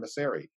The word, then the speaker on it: Mauceri: said hello mr bernstein john beseri that's how i pronounced my name he said i didn't